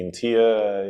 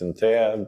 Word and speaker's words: INTEA: I like the fact that it's pronounced like IKEA. Yeah. So it's not difficult to explain to people. So in English this would be INTEA, in Latvian it's INTEA, but yeah, kind of like IKEA.